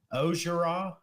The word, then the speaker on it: Orgeron: fan and he said it's actually pronounced osura so it's like the n on the end of the name is silent yeah that's a good